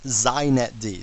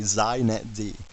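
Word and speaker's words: xinetd: me just say a couple things first it's pronounced zet D so if you want to be hip you say zet D okay and secondly it's the epitome of why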